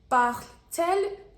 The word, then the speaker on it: Parle-t-elle: If you notice, there's a T between parle and elle, which doesn't really mean anything, but to smoothen the pronunciation, we added it there.